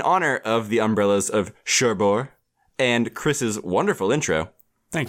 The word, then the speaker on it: Cherbourg: for the umbrellas of Cherbourg spine number 716 I'm pronouncing it differently this week trying to end it last week yeah last week it was shurberg but then I watched